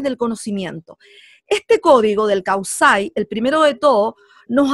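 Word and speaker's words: Kawsay: Kausai, o sea, se escribe con K y con doble U, Kausai, y termina con Y.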